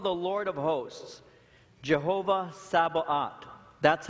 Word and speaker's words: Jehovah Sabaoth: He's called the Lord of hosts, Jehovah Sabaoth.